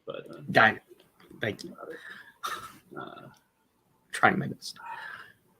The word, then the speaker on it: Guinan: Who shares a table with Gwynyn at the wedding in Star Trek Nemesis? It's pronounced Guinan, but... Guinan.